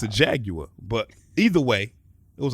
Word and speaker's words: Jaguar: is that you know you Americans say jaguar but it's a Jaguar you know what I'm saying that's how you guys say that's how the Brit say it that's how I'm going